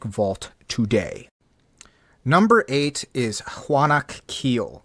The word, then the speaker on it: Hunac Ceel: Number eight is Hunac Ceel, sometimes pronounced Hunak Keel.